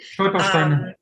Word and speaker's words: Stolpersteine: memorial stones in the pavement that I never pronounced the right way, so I won't try. Stolpersteine.